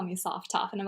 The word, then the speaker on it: sophtoph: But the correct pronunciation is sophtoph, not sophtoph.